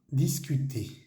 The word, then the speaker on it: discute: termina en una e discut se escribe discuté y se pronuncia discut vale la e al final de las palabras no las vamos a pronunciar nunca discute o o simplemente quiere